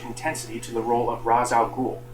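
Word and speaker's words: Ra's al Ghul: to the role of Raza ghoul I know the proper pronunciation is Ral ghoul but I'm not going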